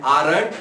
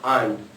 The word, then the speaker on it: aren't: आंट को दो तरह से प्रोनाउंस करते हैं, आरंट और आंट. तो आंट जो है that is British English and आरंट that is American English.